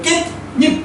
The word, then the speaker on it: 깻잎: 자, 씨옷은 발음이 안 되니까 디귿으로 바꾸겠지. 네. 그래서 깻잎 이렇게 되는데 일단은 잎이 니은으로 소리가 나고이 니은 때문에 앞에 디귿도 뭐로 바뀌어요? 니은으로 바뀌어요. 그래서 니은 니은 형태가 된다는 거죠.